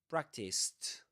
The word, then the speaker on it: practiced: So the pronunciation of the ed of the past simple tense is practiced with a t.